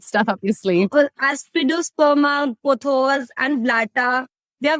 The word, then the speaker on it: Aspidosperma: Did you say aspidum? I haven't heard of that remedy before. Aspidosperma. Yeah. Yeah, aspidosperma. Sorry, I pronounced No, that's fine.